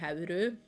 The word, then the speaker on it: Hauru: the Norwegian dub, because they don't say Howl, they say Hauru, and that's also what they do in the Japanese dub, so I guess they took it from that.